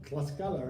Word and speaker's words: Tlaxcala: Guadalajara, Leon, all right, how you say it? Tlaxcala, all right, it's Tlaxcala, right? Tlaxcala. Yeah. Yeah, Tlaxcala.